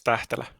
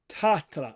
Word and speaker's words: Tähtelä: Tähtelä. Tähtelä. Okay, so the H does actually mean something.